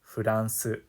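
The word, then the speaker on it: フランス: So for example, the name Erin would be pronounced Eren, and France would be pronounced Furansu.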